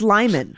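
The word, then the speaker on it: Limon: wrong who who Siri yeah what sir it's Lyman yeah no Siri's wrong on that it's I think it's Lyman too those are the options lemon Lyman or Le lemon lemon lemon Lon no it's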